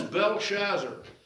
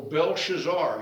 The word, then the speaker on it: Belshazzar: Who is Belshazzar, or Belshazzar? You can pronounce it either way, depends upon which expert that you listen to, how you pronounce that, as we're introduced to Belshazzar the king.